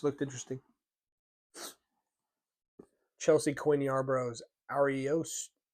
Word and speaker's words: Ariosto: It sounds like you got to say that. Like there's like a flourish on the I. Ariosto. This looks almost like romanticy. Yeah, isn't that? Yeah, that's how you say it.